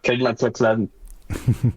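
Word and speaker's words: MacLachlan: Kaclan et tout ça sans filer du premier coup. La bonne prononciation.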